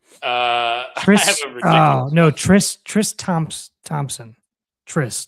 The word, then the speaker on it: Tris: Tris.